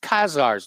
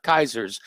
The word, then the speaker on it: Khazars: We're talking about, I believe it's pronounced Khazars, not Kaisers.